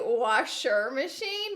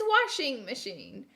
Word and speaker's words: washing machine: For me, it will always be washer machine. But for you guys, if you want to pronounce it correct, it's washing machine.